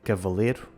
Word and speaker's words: cavaleiro: Por um lado, o ditongo ei pronuncia-se e. Cavaleiro fica cavaleiro e primeiro fica primeiro.